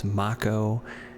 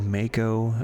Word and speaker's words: Mako: Like uh for Final Fantasy 7, it's Macco and I always said Mako.